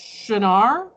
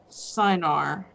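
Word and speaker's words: Cynar: or something like that cenar look like it's spelled Cyn AR and it looks like sine R but apparently only hobos and ignorant people call it that I found the recipe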